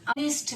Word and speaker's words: honest: So an honest man. Oh, it's like oh. Honest. H is silent here.